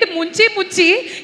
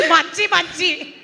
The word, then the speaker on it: మంచి: Yes, but you said munchi munchi. It's not munchi munchi. It's manchi manchi. Manchi prema. Munchi munchi means drowning. Manchi means good.